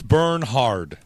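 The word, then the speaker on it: Bernhard: It's not Bernard. It's burnh hard, isn't it?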